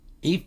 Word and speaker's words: Aoife: My next request was made by um EA. I'm going to read this to you. It's a o I f and he wrote or he or she pronounced pronounced ea. It's Gaelic.